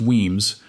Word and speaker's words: Wemyss: Wemyss is pronounced Weems from the Gaelic word Uaimh which simply means cave.